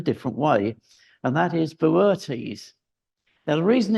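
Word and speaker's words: Boötes: but in a different way and that is Beres now the reason it's that pron you that weird pronunciation is because if you notice there's an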